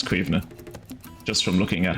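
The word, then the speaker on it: Caoimhe: It's spelled C-A-I-O-M-H-E. Cuivna. Or some people will pronounce it Cuiva.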